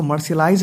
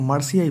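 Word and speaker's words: Marseillaise: इसी पीरियड में वहाँ के वॉलंटियर्स ने, एक जगह है फ्रांस में मर्सियाई, इसको मर्सियलाइज नहीं पढ़ना है, इसको मर्सियाई पढ़ना है, मर्साई.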